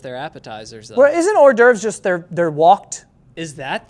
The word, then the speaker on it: hors d'oeuvres: So apparently it's not whore door, it's hors d'oeuvres.